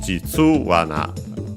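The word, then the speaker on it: 実はな: As a reminder, well, the accent is on the tsu, Jitsuwana, as we have heard.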